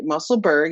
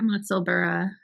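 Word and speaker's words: Musselburgh: So when is it true whenever you see the gh, it's like an a sound like Edinburgh, muscle? Yeah, muscle.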